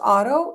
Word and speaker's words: Oto: Even though it's pronounced auto, it looks like odo.